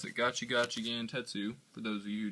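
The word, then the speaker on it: Gachi Gachi Gantetsu: gotchi got Gant tetu yeah that's how you pronounce it gachi gachi Gant tetu for those of you who don't know um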